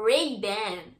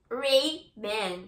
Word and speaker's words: Ray-Ban: Bom, eles pronunciam a Ray-Ban desta forma assim, ó. Ray-Ban, Ray-Ban, Ray-Ban. muito diferente, né? Ray-Ban, Ray-Ban. Chique, né? Vocês viram, né? Não que esteja errada como a forma como a gente pronuncia, não tá errada. Só que eles pronunciam com outro sotaque diferente, que é Ray-Ban.